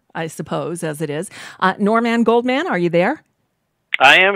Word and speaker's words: Norman Goldman: and people would say, I'd say my name, Norman Goldman, and they'd say, Warren Moldman? And I never got them to say my name back. And I'd say, no, not Warren. Warren Moldman is not even a name.